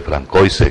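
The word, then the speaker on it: Françoise: Teníamos que saber eh la pronunciación, nunca se me olvida el famoso nombre francoise que se escribe francoise y se pronuncia Francois.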